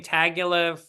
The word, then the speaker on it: Tagovailoa: Tagovailoa.